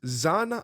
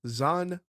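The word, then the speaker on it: Xan: far eastern language so her full name is zan iro irelia and that's x-a-n zan irelia that is the pronunciation that we are sticking to and i will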